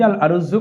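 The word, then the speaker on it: الأرز: ভাতে বাঙালি বলা হয় এই ভাতের আরবি শব্দ হচ্ছে আল আরুজু শব্দটি আল আরুজু কথ্য ভাষায় আমরা রুজ বলে থাকি রুজু বলে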